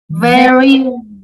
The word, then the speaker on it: very: a p but with the letter v your teeth touch your lip like very very much perfect perfect say